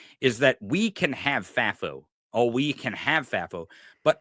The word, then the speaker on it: FAFO: because I it's not that I don't want FAFO. Okay. Is that how you say it? FAFO? FAFO? It is. FAFI? FAFO. Yeah, FAFO.